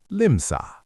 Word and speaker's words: limsaa: It already ends in a, so we just stretch it, limsa.